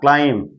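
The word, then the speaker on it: climb: क्लाइम। एम के बाद भी साइलेंट रहता है।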